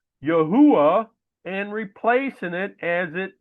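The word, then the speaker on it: Yahweh: when the father's name which I pronounce as Yahwh was removed. So let me read this with the father's name as I understand it to be. then you shall know that I am Yahwh when I have dealt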